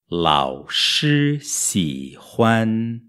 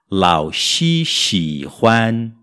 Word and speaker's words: 老师喜欢: se ram agora o professor gosta launch shirran launch se ram bom aqui temos um desafio a gente tem que pronunciar o sh i xi do professor seguido